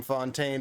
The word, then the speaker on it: Fontaine: France, if the name Fontaine did not give it away already. Because of the French pronunciation there, that R at the end being silent.